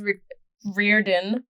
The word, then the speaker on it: Riordan: Everybody knows Rick Riordan. Fucking best name. Yeah, apparently that's how you say it.